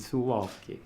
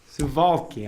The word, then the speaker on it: Suwałki: in beautiful poland and zuwalski suvalky i'm so sorry yes it's difficult to pronounce i just have to remember the w's are v's okay yes are there